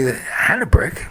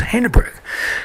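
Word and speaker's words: Hanebrink: Harry haak he T taught me how to pronounce the name he looked at me hanck no it's hanrick because I asked about all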